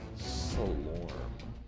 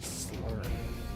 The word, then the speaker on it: Slorm: We have 560 slur, which you get from killing their Slorm. I always say slur. Why? This word that's not a word, I keep mispronouncing it.